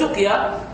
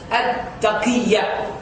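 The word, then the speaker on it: تقية: Some people call it tuqya, but I asked one of the ulama who's experienced in this field. He said the correct actual pronunciation is at-taqiyya.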